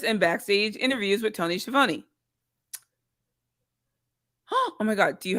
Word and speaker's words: Schiavone: And not just in backstage interviews with Tony Schiavone. Oh my God, do you have the video? Tony Schiavone. Oh yeah, Tony Schiavone was talking a lot of Hey everybody, it's Tony Schiavone of All Elite Wrestling, and this is True